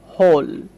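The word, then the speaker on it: hole: খেয়াল করতে হবে এখানে আমরা দেখতে পাচ্ছি ও ভাওয়েলটা রয়েছে, তাই না? তারপরে দেখেন শেষে ই ব্যবহার করা হয়েছে, তাই আমরা ওকে ও এর মতো উচ্চারণ করছি, হোল।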